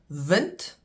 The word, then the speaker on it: wind: Vent and wind spelled the same pronounced differently.